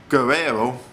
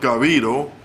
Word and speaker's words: Garrido: Failed to find out that this sicko by the name of Philip Guerrero, or Garrido, let me pronounce it better, Philip Garrido, and his wife Nancy, who couldn't give children, was kidnapping and abducting poor Jaycee Lee Dugard.